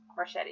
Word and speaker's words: Marchetti: Marchetti is how you say the last name, I know.